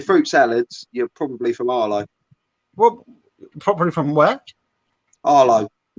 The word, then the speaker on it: Harlow: If you're fruit salads, you're probably from Arlo. Well, probably from where? Arlo. Harlow or Arlo? Arlo. Harlow, right, okay. Yeah, Arlo. You didn't pronounce your H's.